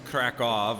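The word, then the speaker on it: Kraków: i didn't know uh krakow which is krakov i keep i'm doing the american pronunciation of the w like a w when it it sounds like a v so krakow is a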